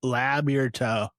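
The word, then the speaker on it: Labyorteaux: Labourteau. So like it's French as shit for sure. So Patrick, I'm labbing your toe. Like Labourteau.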